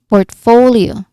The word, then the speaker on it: portfolio: Now, the stress is on the second syllable for portfolio.